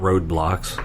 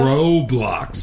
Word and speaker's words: Roblox: The national park people in the Roblox. Oh, I found it. Roblox. No, it's not roadblocks. This No, is the post. Roblox. That's what I This said.